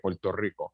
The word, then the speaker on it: Puerto Rico: Rico, you know, that's how you say it, Puerto Rico, where we come from.